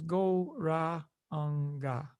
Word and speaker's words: Gauranga: we'll be using is the mantra goranga divided into four syllables go ra anga it's a deep breathing